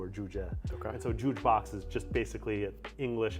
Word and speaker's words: Juuj Box: I've always been curious about, like, when I first met you and you mentioned Juuj Box. Yeah. I'm pronouncing it right, Yeah.